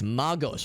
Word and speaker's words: Magos: It's Magos with a hard G. I thought it was a soft G, like Magus.